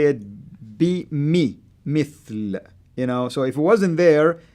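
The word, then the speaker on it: مثل: That's the kasra, and the kasra will help you to say it mithl. So if it wasn't there, you can say bimethal.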